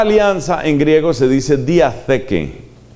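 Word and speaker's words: διαθήκη: La palabra alianza en griego se dice diatheke. Eso se escribe como se oye diateque, pero con TH, diatheke.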